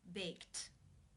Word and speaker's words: baked: you pronounce this word the final sound of the verb in the infinitive form to bake is the K sound it's unvoiced therefore the II D is pronounced unvoiced with the T sound baked baked how do you